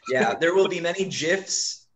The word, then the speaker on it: GIF: There will be many GIFs. And I pronounce it GIF, not GIF.